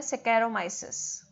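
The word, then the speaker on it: Saccharomyces: आपने इसमें एग्जाम्पल करना है सेकेरोमाइसिस या सेक्रोमाइसिस, कुछ भी प्रोनाउंस कर सकते हैं आप।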